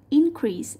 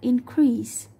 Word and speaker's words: increase: Thì ở đây increase sau to nó là verb. Nên là chúng ta sẽ đánh trọng âm vào âm thứ hai. Thay vì đọc là increase như câu 3, ta đọc là increase.